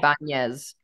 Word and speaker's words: Ibañez: So it goes Nya, yeah, Ibañez.